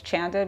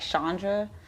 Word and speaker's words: Chanda: my real name was chanda because a lot of people didn't know how to pronounce it they would say like chandra so um on instagram